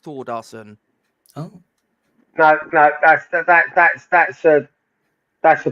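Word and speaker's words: Þórðarson: His name, although it's spelled a little bit weirdly, it's actually pronounced Thordarson.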